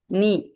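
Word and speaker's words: know: நீ K silent முழங்கால்.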